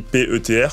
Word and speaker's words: Petr: Mon prénom qui s'écrit P-E-T-R, donc souvent j'ai la question, c'est Petr ou Peter, etc., etc. Appelle-moi Peter, ça sera très bien.